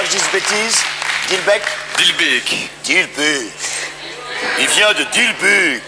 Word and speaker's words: Dilbeek: Comment prononce-t-on, pour pas que je dise bêtises? Dilbeek? Dilbeek.